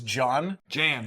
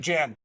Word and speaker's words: Jan: So Scotty thinks Jan is John. Jan. But he still has no idea that J's in German are pronounced like a Y.